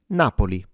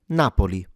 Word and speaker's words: Napoli: All you really need to do is stress it at the beginning. Don't overstress it unless you want to sound like you're from Naples. But in general, Napoli, what's wrong is to